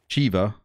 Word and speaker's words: Shiva: know why he says shiva it's not shiva it's shiva the the god is pronounced chiva let me buy this